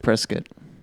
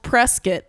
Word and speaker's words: Prescott: I think it's pronounced Prescott. Oh, yeah, you're right. Larry told me that last night. Shit. Sorry. Hey. Sorry, Arizonians. I corrected you. It's called Prescott.